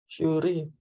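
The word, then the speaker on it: 修理: Cukup pakai ini apa nih bacanya? Shuri.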